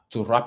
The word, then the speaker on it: wrap: Donc là, faites attention, le W ne se prononce pas. On ne va pas dire to wrap, no, okay? On va dire to wrap it up, okay?